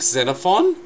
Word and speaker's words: Xenophon: Although there was a lot of talk about Nick Xenophon, that's how you pronounce his name, unnamed Matt, holding the balance